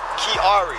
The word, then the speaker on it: Kiari: Kiari. How you spell that?